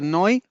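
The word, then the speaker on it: neu: Y se acuerdan que ya vimos este adjetivo N e U se pronuncia noi que significa nuevo.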